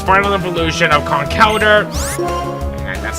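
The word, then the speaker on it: Conkeldurr: had to get to its final evolution of con Calder and that's how it's pronounced I know they're gonna call it a conquered in the past but a lot of people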